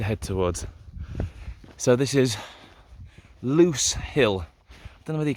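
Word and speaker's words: Lose Hill: final peak to head towards so this is loose hill i don't know whether you can also see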